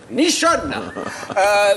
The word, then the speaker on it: Nichon: Justement, nous cherchons nous aussi à adapter ce style de musique en France grâce à Loli Nichon, prononcé Nichonne.